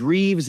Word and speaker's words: Rives: Name is Reeves. It's spelled Rives, folks.